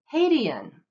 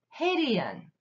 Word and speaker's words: Hadean: can is an eon Haitian hey D and Haitian Haitian is an eon